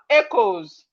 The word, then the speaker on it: echoes: You know, you can see that when you are pronouncing this word, the c h is sounding like k. It's not sounding like ch.